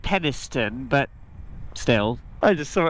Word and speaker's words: Penistone: So we saw that there was a Greggs in this little town right here called Penistown. Well, the locals probably pronounce it Peniston, but still.